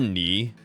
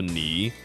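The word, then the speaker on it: 你: So the word knee which is like you right here this first word it has a third tone which is like you have to kind of say it like you kind of like dip down and then like go back up afterwards like while you're saying it. So knee it's like accent.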